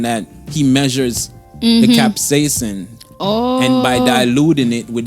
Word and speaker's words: capsaicin: Capsaicin.